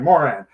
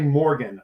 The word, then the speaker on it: Moran: i pronounce the right moran i for some reason i want to say morgan i i have to say i want to say morgan but i know there's no g i am basically the